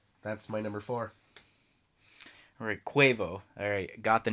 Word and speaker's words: Quavo: my number four alright quavo alright got the name right instead of quavo right rhyming with guava wow are you me